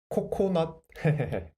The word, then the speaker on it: 코코넛: So the last syllable block is not. So, 코, not. 코코넛.